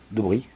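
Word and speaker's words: Debrie: Debris. D-E-B-R-I-E. Ouais. Ouais, Debris. Oui, de bruit.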